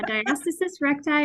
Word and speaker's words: diastasis recti: it I think I say it wrong yeah diastasis recti or Dr for short okay yeah so to